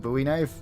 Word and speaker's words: Bowie: Bowie knife, still stand by that because it's named by Jim Bowie, not David Bowie.